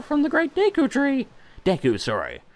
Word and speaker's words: Deku: Deku, sorry. Apparently it's pronounced Deku, which seems weird to me, but you know, who the hell am I to question it?